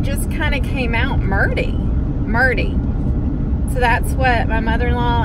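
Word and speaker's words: Merdie: I didn't say Marty. I said Murdy. Like M-E-R-D-I-E, Murdy. Murdy.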